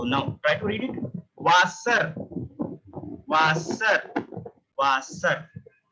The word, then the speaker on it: Wasser: It's not a W. It's a way, way, way. So it produces sound like V. V. Whenever you found a W, so you have to pronounce it like way.